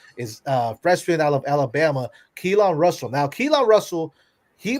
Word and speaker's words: Keelan: Yeah, it's pronounced Keelan.